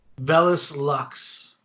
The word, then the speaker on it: Vellus Lux: him my name is um actually it's uh vellus lux could you spell that for the audience sir v-e-l-l-u-s l-u-x did